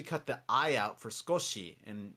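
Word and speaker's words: 少し: So skosh, Yeah, you don't really say. So, It's kind of spelled Sukoshi, but if you say Sukoshi, you sound very Amerikajin. It's called high vowel voicing, and for those of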